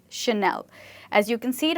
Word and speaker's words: Chanel: But this word is not called a channel, it's called Chanel. This name is called Chanel.